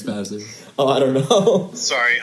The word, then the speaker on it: Vassar: It's Vasser.